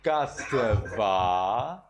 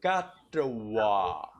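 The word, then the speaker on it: katvā: Now instead of katva, we get katwa.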